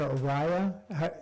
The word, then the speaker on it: Araya: Is it Araya? Is that proper pronunciation of your name? Yes.